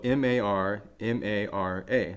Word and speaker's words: Marmara: Marmara is spelled M-A-R-M-A-R-A, Marmara.